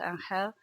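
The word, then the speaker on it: Ángel: I think one of the highlights was meeting a Valencian called Angel, which is written Angel, but it's pronounced Angel.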